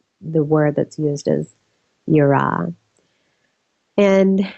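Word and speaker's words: יראה: Hebrew Bible for fear, and that word is yirah, and that's spelled Y-I-R-A-H.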